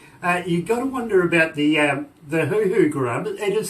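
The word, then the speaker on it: huhu: But believe me, you got to wonder about the hoo-hoo grub. It is spelled H-U-H-U.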